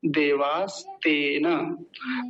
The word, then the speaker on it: देवास्तेन: देवास तेन, देवास तेन। तेन नहीं कहेंगे, तेन ऐसा बोलेंगे।